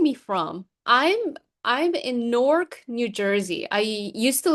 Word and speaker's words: Newark: And I learned it's pronounced NORC, like N O R K.